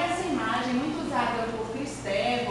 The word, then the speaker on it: Kristeva: Daí essa imagem, muito usada por Kristeva, ou Kristeva, se vocês preferirem a pronúncia francesa, apesar dela ser húngara, e essa imagem do palimpsesto.